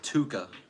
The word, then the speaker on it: Tuhqa: possible be really cool how do you say your name bro it is pronounced Tuka okay demos is a contra